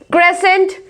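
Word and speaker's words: crescent: क्रेसेंट, क्रेसेंट, एस के बाद सी है तो साइलेंट है।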